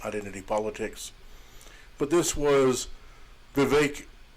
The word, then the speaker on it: Vivek: But this was Vivek rhymes with cake, letting the Republican voters know that you won't have to change your regularly scheduled program of conspiracy theory soup.